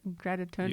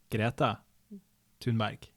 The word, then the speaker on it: Greta Thunberg: Greta Thunberg. You wouldn't say that in Scandinavia, but you can say it like that. How would you say it? Greta Thunberg.